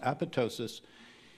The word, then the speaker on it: apoptosis: are marked for apoptosis it's spelled with a silent p but it's pronounced apoptosis and it means program